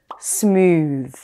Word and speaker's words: smooth: Case number one, the TH is pronounced as th when it stands at the end of a noun or an adjective. For example, truth, cloth, teeth, south, breath. An exception to this rule is smooth.